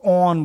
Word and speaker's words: awn: ब्रैक्टियोल में lower lemma, अपर पेलिया, उसमें कांटा निकला होता है जिसको ऑन बोलते हैं, ये स्पेलिंग AWN लिखना है, अच्छे से लिखी नहीं गई है।